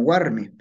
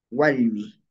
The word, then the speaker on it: warmi: Toda la zona de Ancash pronunciamos como Warmi. Pero ya yéndonos para Huánuco, para Junín, la cosa cambia, ¿no? No decimos Warmi. Si no decimos, Walmi, ¿ya?